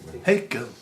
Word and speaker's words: Hegel: No, there's no facts about Hegel. Yeah, there is. Go on. He rhymes with bagel.